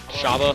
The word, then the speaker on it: Shabba: But how do you pronounce his name? Shabba? Shabba.